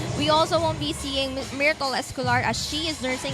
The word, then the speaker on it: Myrtle: Tinanong ko yan, si Escanlar, kung paano yung pronounce yun. Ganun talaga eh, Myrtle daw talaga. That's how she prefers it.